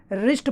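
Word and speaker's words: wrist: इसमें दोस्तों ध्यान रखना, इसको ब्रिस्ट नहीं पढ़ेंगे, रिस्ट पढ़ेंगे। जब भी कभी आर से पहले डब्लू आता है दोस्तों हमेशा साइलेंट होता है, जैसे राइट लिखते हैं हम, राइट है, रॉट है, रिस्ट है, तो ये रिटिन, इन सब में डब्लू साइलेंट होता है आर से पहले आता है।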